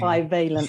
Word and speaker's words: bivalent: First of all, how do you pronounce it? Bivalent vaccine. Bivalent.